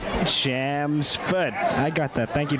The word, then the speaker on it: Chelmsford: of the town's name it's chelmsford the l is silent say foot shams foot i got that thank